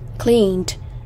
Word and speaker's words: cleaned: Cleaned. Cleaned. Đây là âm D.